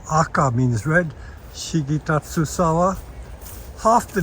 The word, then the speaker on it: aka: This red Shigitatsusawa, and in Japanese it is pronounced Aka, means red, Shigitatsusawa.